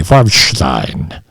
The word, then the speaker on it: Farbstein: I'm pronouncing it the German way, Farbstein.